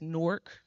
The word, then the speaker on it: Newark: am a girl from Newark New Jersey and I said it right it's Newark New Jersey Newark Delaware said it a bit different um but my parents